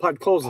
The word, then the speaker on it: Podkolzin: Then at the 8:19 mark, but how do you say that? Pakolson? He gets his 13th from it. What? Say that again. Podkolzin. Podkolzin.